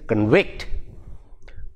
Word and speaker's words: convict: a verb it becomes it becomes the same word same spelling but the stress changes it goes to the second syllable that is convict convict convict see the difference that is the same